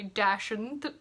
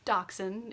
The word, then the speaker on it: dachshund: then snow and then dachshund through the snow or if you pronounce it the other way dash and through the snow dachshund is correct but some people say dash and dash and through